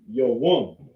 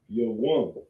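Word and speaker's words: יום: How you say day in the Hebrew is Yawam. You have a Yah, a Wa, and a Ma. Yawam means day.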